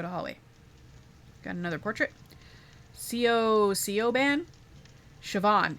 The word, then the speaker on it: Siobhan: Sioban Siobhan. It's pronounced Siobhan.